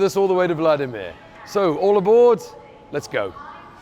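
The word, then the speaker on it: Владимир: the middle of vladimir which in russian is pronounced vladimir it's over a thousand years old and therefore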